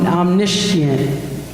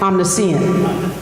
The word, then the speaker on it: omniscient: And the first perspective is, I'm going to try it, omniscient.